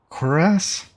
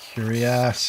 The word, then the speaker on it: cuirass: I think it's Cuirass is how you say it. I had to look it up. Because I was saying Curious and Curious and everything else, but wasn't saying it right.